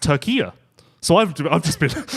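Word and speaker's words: Türkiye: been beating the drum calling it turkey thinking I'm the most cultured person in the room and actually it's pronounced Tura so I've I've just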